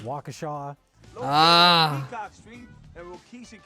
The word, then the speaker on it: Waukesha: Which, of course, anyone doesn't know, it's pronounced Waukesha.